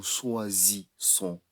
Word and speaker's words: choisissons: Nous choisissons. Nous choisissons. Nous choisissons. Nous choisissons. If we have double S, we read S. But if we have one S, we pronounce Z.